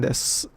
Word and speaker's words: です: Well, this is pronounced des, not desu.